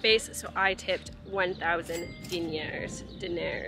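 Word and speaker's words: dinar: so I tipped 1,000 din daer it's like dinner I learned how to say it properly da daer which is like maybe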